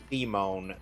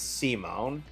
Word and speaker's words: Simon: really Before you continue on, know that you mispronounced Simone the Digger. It's Okay. if I was Simon. No, it's Simone.